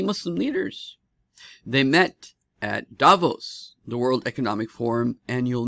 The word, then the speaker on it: Davos: big big meeting in Davos Davos Davos is how they say it Davos so there was a